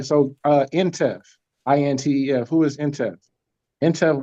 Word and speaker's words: Intef: That's different Intef. Okay. Yeah. So they call them Antef when they generals for some reason, and but it's spelled the same way.